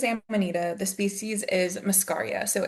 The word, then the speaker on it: Amanita: All the the vowels always throw me off. Ammonita, but the genus is Amanita.